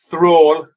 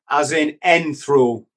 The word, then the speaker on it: Thrall: Did I pronounce that right? Yeah, you can say it how you like, brother. It's actually Thrall, as in Thrall.